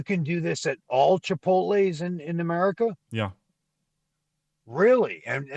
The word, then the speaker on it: Chipotle: Is that how you pronounce it? Chipotle? What is it? Oh, Chipotle. Chipotle, exactly.